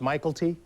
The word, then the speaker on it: Mykelti: it's one word yeah it's m y i k l TI it's pronounced Michael T right but people mess